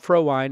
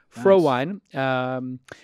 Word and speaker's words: Frohwein: about that today rob pro wine is with us did I pronounce it right you got it perfect fro wine which if you didn't know it's German did you know that